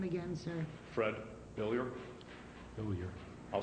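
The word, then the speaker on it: Billieux: Fred Billier. Billier. I'll spell it for you.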